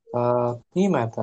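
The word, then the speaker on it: فاطمة: Hujratu Fatimata kita bacanya. Oh, Karena dia Fatim. muannas, Oh, dia majrurnya dengan fathah, tidak boleh dikasrah.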